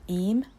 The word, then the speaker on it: Eyam: the historic village of eem it's spelled yam but is pronounced it's in the Peak